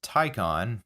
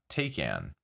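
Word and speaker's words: Taycan: native English speaker it is Tyco on and not take in as it might lead you to believe Porsche even felt it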